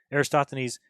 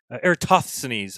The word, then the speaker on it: Eratosthenes: to go to um make sure you pronounce it right because otherwise then you can't be talking about it aristotle's eratosthenes okay you have it now um but yeah go